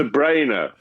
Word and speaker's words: De Bruyne: It's How do you pronounce it? It's De Bruyne.